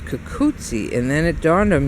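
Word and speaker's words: cucuzza: 2 Z's in Italian is always spelled like TZ in English. So like pizza or mozzarella. So I said, oh, it's kukutsi.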